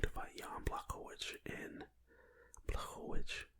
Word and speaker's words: Blachowicz: Israel Adesanya is officially going to fight Jan Blachowicz in Blachowicz, I think is how his last name is pronounced.